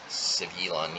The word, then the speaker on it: Svyelun: Then again, Tide Shaper is a Merfolk, so it synergizes well with Svyelun. Svyelun, yeah, that's how you pronounce it.